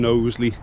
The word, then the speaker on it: Knowsley: so, that he's from Knowsley, and Knowsley does include a K, which is silent, hence the name.